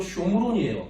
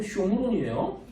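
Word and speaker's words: שומרון: 그러면은 사마리아가 히브리어로 쇼므론이에요. 8111번. 이 쇼므론이라는 말을 한자 음역으로 사마리아라고 한 거예요. 그건 아마 영어 성경의 영향을 받았을 거예요. 사마리탄 이렇게 읽으니까 그게 아마 한자랑 섞은 거겠지. 발음이 비슷하니까. 히브리어는 쇼므론이에요.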